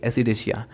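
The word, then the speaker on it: Ascidiacea: इसकी प्रोनाउंसिएशन क्या होगी, एसिडेसिया।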